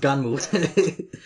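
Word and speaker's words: Gunnm: I know it's spelled Gnum, but it's pronounced Ganmu.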